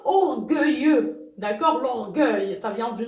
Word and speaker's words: orgueilleux: Donc ça se prononce orgueilleux.